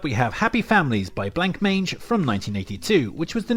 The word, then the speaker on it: Blancmange: Next up we have Happy Families by Blancmange from 1982, which was the new wave pop duo's debut LP. And yes, I am messing around. I know it's pronounced Blancmange.